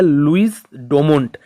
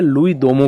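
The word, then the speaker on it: Louis Dumont: दोम का इनको हम इनका जो नाम है ओरिजनली है लुई डोमों लेकिन इसको हम प्रोनाउंस करते हैं लुई दोम की तरह यहां पर लुई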